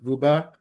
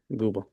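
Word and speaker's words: Goubaa: Guba.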